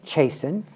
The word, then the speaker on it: Chaisson: And we have the artistic director, David Nugent, and Anne Chaisson.